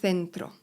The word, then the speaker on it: centro: El centro, centrum. Litery C, tak jak C są wymawiane z językiem między zębami.